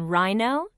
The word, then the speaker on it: rhino: Rhino. Can you hear the h sound in rhino? No. That's right. The H is silent.